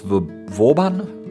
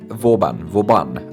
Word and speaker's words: Vauban: So this here is Port Vauban? Vauban, I've pronounced that wrong.